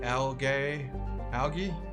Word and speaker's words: algae: Toxic algae. Algae. That's how you say it in British English.